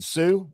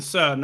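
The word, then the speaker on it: Suh: uh is with Justin Sue Ursa sorry I only say it wrong it's you know it's Zurich it's not Zurich and it's Justin Sun not Sue it's whatever I want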